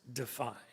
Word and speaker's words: DFI: It's called Defense of Freedom Institute, and so that everyone is in on the joke, the acronym DFI is pronounced DEFY.